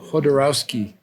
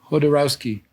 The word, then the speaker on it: Jodorowsky: Hodo with a J? Jodorowsky. Yeah. He's a genius. How do you spell that? Alejandro. Is it A? Alejandro, like Alexander? Alejandro? Okay. And it's Jodorowsky. Jodo, like Godo. okay. Jodo. Right.